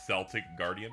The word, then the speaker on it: Celtic Guardian: A By the way, the pronunciation of the Yu-Gi-Oh card is Celtic Guardian, by the way.